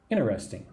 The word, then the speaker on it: interesting: Interesting. There's different ways to say this. You could say interesting. It's very interesting. Usually I say it like quickly, like Americans do, with 2 parts. Interesting. Oh, 3 parts.